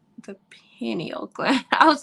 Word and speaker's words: pineal: Because it's I call it penile, but I know that's not. I don't know why I pronounce it like that. Pineal gland.